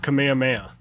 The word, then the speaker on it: Kamehameha: happy you said that technically I suppose this pronounced Kamehameha the way that he says it is like that is kameha yeah but but everyone says it kamehame I don't know why